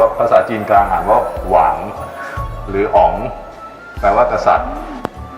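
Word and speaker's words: 王: ซึ่ง อ่าน ว่า ภาษา จีน กลาง อ่าน ว่า หวาง หรือ อ๋อง แปล ว่า กษัตริย์ นะ ฮะ ตรง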